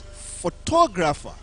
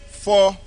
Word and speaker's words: photographer: word it is pronounce photographer if you say phra you will miss it you will go for gra or you you miss it is photographer photographer the man is